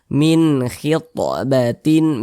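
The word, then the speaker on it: من خطبة: tidak didengungkan tidak digunahkan jadi pendek saja bacanya min khitbatin min khitbatin nah seperti itu Min Jangan dibaca Min nah jangan dipanjangkan seperti itu pendek saja nah kemudian khit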